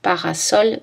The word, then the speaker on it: parasol: Mais le S se prononce S dans parasol vraisemblable.